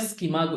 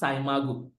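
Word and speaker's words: SCImago: We used to call it Skimago. It's actually pronounced Saimago.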